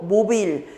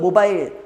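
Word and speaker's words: mobile: 스몰이고 모빌. 이게 발음이 모빌 혹은 모바일 둘 다 됩니다.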